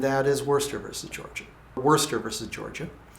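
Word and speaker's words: Worcester: Wurster versus Georgia. And Wurster in this case is spelled a little bit odd, but I do believe that's the way it's pronounced.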